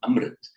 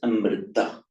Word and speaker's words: Amrit: but the modern languages of northern India, notably Hindi, Marathi, Gujarati, Bengali, they don't pronounce the final a. Mm. So what is Amrita in Sanskrit becomes Amrit.